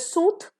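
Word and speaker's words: sooth: इज सूथ एंड सूद सो जिसमें ई नहीं है that will be pronounced as सूथ और जिसमें ई है it will be pronounced as सूद द आ रहा है तो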